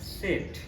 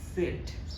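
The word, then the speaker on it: Zett: এবং last Z ইংলিশের জেড এটার উচ্চারণ হবে সেট সেট উচ্চারণ কি সেট।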